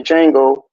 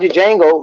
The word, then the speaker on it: Django: I know I was talking about the Shango and the Django, and remember he said Mhm. he said the D is silent.